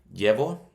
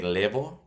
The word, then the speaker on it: llevo: Llevo. Notice I didn't say levo. It's not levo. We're not pronouncing the double L as an L. We're pronouncing it like a Y.